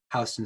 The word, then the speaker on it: Houston: york city it is houston street that's how people in the city pronounce it 100 yeah furthermore the